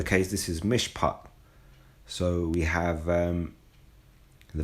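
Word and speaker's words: מִשְׁפָּט: pot I'll just get you the sound the pronunciation Strong's H 4941 mishpat mishpat so you know we have the valley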